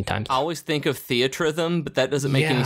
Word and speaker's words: Theatrhythm: I always think of Theatrhythm, but that doesn't make any sense either.